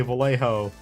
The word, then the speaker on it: Vallejo: So originally you should actually say Vallejo with a New Jersey accent.